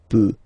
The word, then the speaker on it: peut: Je peux, tu peut. Then il, elle peut. So you will put T at the end, you don't pronounce it. Il peut, elle peut.